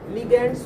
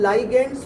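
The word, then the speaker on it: ligands: लिगेंड्स बोल रहे हैं। आजकल लाइगेंड्स बोलने लग गए, उसको नया प्रोनाउंसिएशन आ गया।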